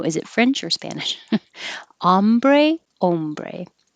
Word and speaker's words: hombre: it's ah ombre ah if it's spanish with an h it's ombre so you don't pronounce the h but that's how you know is it french or spanish hombre ombre humiliating this hu